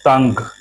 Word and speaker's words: तंग: যেমন তো অনুসার গ, তাঙ্গ, তাঙ্গ, এখানে অনুসার উচ্চারণ উমার মতো বা বাংলা অনুসারের মতো হবে, অনুস্বার।